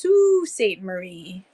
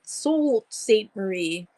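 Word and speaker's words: Sault Ste. Marie: yeah so but but it's pronounced Sue St Marie but it looks like salt salt salt St Marie but it's not it's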